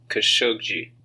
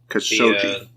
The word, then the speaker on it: Khashoggi: They pronounced it Jamal Khashoggi. Khashoggi. The last G is like a J. Okay. The first G is pronounced like a regular G.